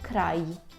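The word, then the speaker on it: kraj: далі йде й й обережно щоб ми її гарно вимовляли наприклад хто вивчає французьку це не ж це ніщо інше як й наприклад у слові край край край - це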